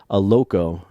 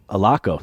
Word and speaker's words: Allocco: and on today's show we've got Mr Marty aloko I should alako there we go I know I should I